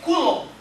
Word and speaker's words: coulomb: É coulomb. Coulomb. Coulomb, tá? A pronúncia é essa, coulomb.